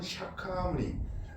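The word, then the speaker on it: Shakyamuni: 그래서 이제 누차 말씀드렸습니다만은 석가모니 부처님 그것은 이제 한자 발음이고 산책을 또 원 발음은 샤카무니 그래서 싹 싹 쪽이라고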